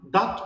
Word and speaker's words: dat: immer wie Sch und es heißt nicht das und was sondern dat und wat.